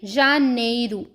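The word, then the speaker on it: janeiro: तो चलिए एक-एक करके इनकी प्रोनाउंसिएशन को देख लेते हैं। जनवरी जनवरी को हम क्या कहेंगे? जानेरू क्या कहेंगे?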